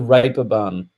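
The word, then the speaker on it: Reeperbahn: uh the what they pronounce is the the raper barn but it's spelt that's the the German pronunciation re we would say uh reaper bun I think it's spelled R E A P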